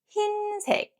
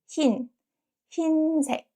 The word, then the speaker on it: 흰색: And one last thing, when 의 is combined with another consonant, not 이응, is usually pronounced as 이. For example, 흰색. 흰색 consonant is 히읗. So we pronounce it not 의, 흰색.